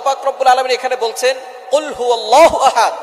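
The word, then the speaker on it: قُلْ: আল্লাহ পাক রাব্বুল আলামন এখানে বলছেন কুলহু আল্লাহু আহাদ। এখানে কফ দিয়ে পড়ছেন কিন্তু অনেকেই ভুল করে উচ্চারণ সঠিক না হওয়ার কারণে তারা পড়ে কাফ। কুলহু আল্লাহ।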